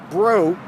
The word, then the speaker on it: Braud: use it in the paper it's bro b-r-a-u-d and besides I have a Google alert